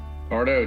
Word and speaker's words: Tardo: Is it pronounced Tardo? Tardo, T-A-R-D-O.